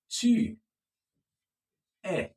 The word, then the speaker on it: tu es: Now, you are rich would be tu es. Can you say that? Tu es. Tu es. Tu es. The S is silent.